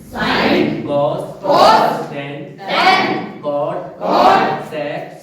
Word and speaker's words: cosec: शुरुआत के 3 अक्षर SIN, साइन, ठीक, COS, कॉस, TAN, टेन, COT, कॉट, SEC, सेक, COSEC, कॉसेक, कॉसेक। ये इनका प्रोनाउंसिएशन है, उच्चारण है।